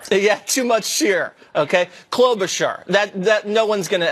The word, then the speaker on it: Klobuchar: Klobuchar. I had too much shear on the char. Yeah, too much shear. Okay, Klobuchar.